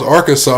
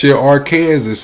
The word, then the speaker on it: Arkansas: They don't even want to pronounce Arkansas, right? They want to call that our Kansas and make it a joke.